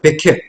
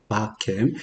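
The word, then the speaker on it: בכם: 백캠. 배라는 전치사가 있고 캠이 있는데 그래서 정확한 발음은 바캠이에요. 바캠.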